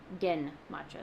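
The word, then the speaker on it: genmaicha: Gimmacha not with the J sound. Gen matcha.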